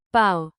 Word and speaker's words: πάω: Stress matters. Πάω. Πάει. Πάμε. Πάτε. Πάνε. Keep the accent on the first syllable.